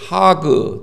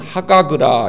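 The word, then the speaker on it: חג: 여러분들, 이 히브리 말로 이 절기라는 말을 하그 또는 하가그라 이렇게 발음합니다.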